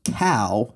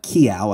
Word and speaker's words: cow: In response to this, New England travelers would practice saying cow, right, not kiao. I'm reading this as the quote is written phonetically, where the wrong pronunciation is spelled C-E-O-W.